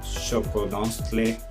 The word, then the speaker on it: Xoconostle: La palabra Xoconostle va a aparecer con el sonido de una SH, y pues así, ¿no?